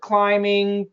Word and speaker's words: climbing: So no B. So it's climbing.